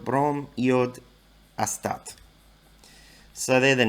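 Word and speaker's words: бром: So with these, they just drop the "ine". So fluorine, well, actually fluorine's a bit different. Fluorine's Ftor. Chlorine becomes chlor. Bromine becomes brom. Iodine becomes yod.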